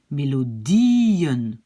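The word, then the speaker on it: melodieën: pas les petits points, je risque de peut-être dire mélodie en, hein, parce que ça se prononce comme en, mélodie en. Non, c'est pas ça, c'est mélodie en. D'accord? Et pour indiquer, attention, ici commence une nouvelle syllabe, ben, je fais comme ça, voilà. Et donc, ça, j'enlève. Et donc, c'est quoi? Mélodien. Hein, vous avez compris, c'est pour la prononciation. C'est mélodien.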